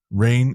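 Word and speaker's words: Rahne: And so how do you say her name? I say Rain. It's Rain. Rain Rain. Yeah, Sinclair. I okay, always that's thought it what I was say. Rainy, but it's Rain Sinclair.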